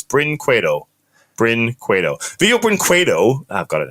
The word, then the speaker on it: Brinquedo: It's two syllables. Brinquedo.